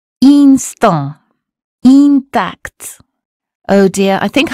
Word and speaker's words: instant: That consonant tells us not to say in or im, but un. Here's how to say them correctly. Repeat them after me. Imbécile, inclination, information, injuste, important, instant, intact.